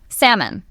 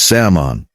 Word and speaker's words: salmon: Salmon, the fish. The L is completely silent. It's salmon, 2 syllables, no L sound at all.